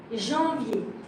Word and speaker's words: Janvier: Janvier. En sounds like en. I am always advising my student to do something. The sound en, and do it like this.